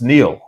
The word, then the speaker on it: Niall: is one and so if you say nile you're confusing me with the well-known egyptian river uh it's it's neil and if you go